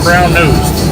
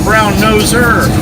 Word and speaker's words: brown noser: You don't say stop being brown nosed. No, no, no. That's not how you say it. Noser. Noser with an R. Stop being a brown noser. Not brown nosed.